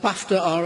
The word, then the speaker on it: BAFTA: You BAFTA Baft are a democratic I said I said BAFTA which rhymes with Daft.